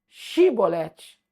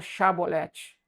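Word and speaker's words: shibboleth: Então foram mortos milhares de pessoas porque não puderam pronunciar a palavra chabolete. Mas eles pronunciavam chibolete. Por que eles foram mortos? Porque não pronunciaram a palavra chabolete.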